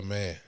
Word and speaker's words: Mayer: and then Alicia Baumgardner um and um Michaela Mayer yeah that's how you pronounce her name that was uh the co-main